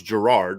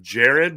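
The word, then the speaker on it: Gerad: i thought it was gerard i thought there was a second r then i was like okay is it jared with the g and it's just a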